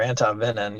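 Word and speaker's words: antivenin: Some people will recommend giving anti-venom or anti-venin. You can pronounce it either way.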